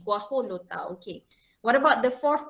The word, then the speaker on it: guajolota: The J is pronounced as H, guajolota, okay.